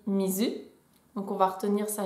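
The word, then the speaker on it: 水: Si on reprend le kanji de l'eau, là ça me semble essentiel de savoir que l'eau ça se dit mizu, donc on va retenir sa lecture kun.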